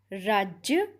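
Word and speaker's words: राज़: अगला है राज अर्थात राज्य या शासन, राज, रहस्य। लिखने में केवल नुक्ते का अंतर है। नुक्ते के कारण ज का उच्चारण ज हो जाता है।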